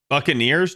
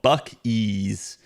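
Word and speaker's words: Buc-ee's: Buccaneers. No, it's called Buck Ease. Literally, it is a beaver as a mascot. And the name is spelled B U C E.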